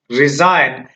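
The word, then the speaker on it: resign: रिजाइन, रिजाइन में भी यहाँ पर जी साइलेंट में रहा।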